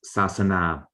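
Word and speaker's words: sāsana: example we know that religion in pali is pronounced sasana sasana is still the way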